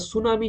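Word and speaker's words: tsunami: ঠিক একই হবে আপনারা আইল্যান্ড যদি পড়েন কিংবা সুনামি যদি পড়েন তাহলে সুনামির প্রথমে টি আছে। টিটা কিন্তু সাইলেন্ট।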